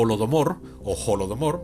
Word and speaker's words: Holodomor: Y bueno, ahí pagaron los ucranianos en aquella oportunidad con una tragedia horrorosa que se llama el holo o holodomor, bueno, se escribe con h, así que lo digo que es la